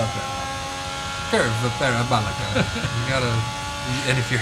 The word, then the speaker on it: Curva Parabolica: Curva Parabolica, sir. Well, Gotta say it right. they just call it that. Curva Parabolica.